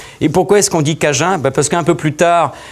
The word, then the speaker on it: Cajun: Les Anglais qui ont pris le dessus, après, ont fait qu'eux, ils avaient du mal à prononcer cadien. Donc ils ont transformé le mot acadien en Cajun, et le D a disparu, il nous est resté donc l'appellation Cajun.